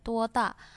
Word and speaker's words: 多大: Lalu, 你今年多大？大应该是第四声, harusnya ada 4 ya, 多大.